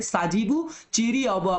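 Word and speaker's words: Sajibu Cheiraoba: आपका चेरू मतलब देखिएगा प्रोनाउंसिएशन यहाँ पे साजीबू चीरी ओबा बोला जाता है इसको, है ना, चीरी ओबा बोला जाता है।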